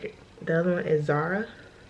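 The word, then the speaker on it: Zaura: The other one is Zara. Like Laura, Zara. Not spelled like the clothing company, but spelled Z-A-U-R-A. But we immediately dismissed that one.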